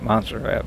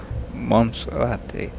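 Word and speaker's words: Monserrate: Mount Guadaloop and Guadaloop and uh well if you speak American you say you call it Monzerat but in Colombia it's pronounced Monserati and you can see them if you look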